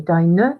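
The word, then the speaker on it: deine: feminine since she's female so dinah not dying miriam 11th of april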